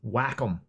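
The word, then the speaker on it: Wacom: uh that the correct way to pronounce the company that makes this is Whackom.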